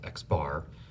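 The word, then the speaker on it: x̄: we use this symbol x of the line over the top pronounce x bar so samples are small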